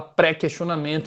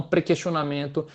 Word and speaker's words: prequestionamento: agora ficou tal qual a gente fala prequestionamento e não pra questionamento como se fala lá no sul do país pois bem o prequestionamento